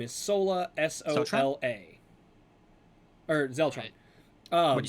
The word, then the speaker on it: Sola: S O L A or Zelron. Um, what' you say her name was? Sola.